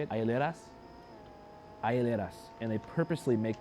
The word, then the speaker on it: hieleras: Hieleras?